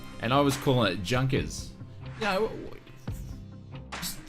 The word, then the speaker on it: Junkers: in before all you guys do um it's pronounced junkers or jonkers not junkers oh I love doing these News videos I